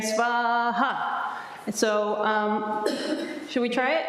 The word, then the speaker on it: Svaha: And the ha is the syllable with the accent, right? Svaha.